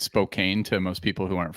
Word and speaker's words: Spokane: I've got to connect correct your pronunciation it's Spokan hence the T-shirt my man this will help you I I created a uh a phonetic device a pneumonic device for you SPO can there we go amazing I'm doing good